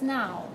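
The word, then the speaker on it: nhow: name of the hotel it's now right now berlin okay you don't need that h announcing itself as a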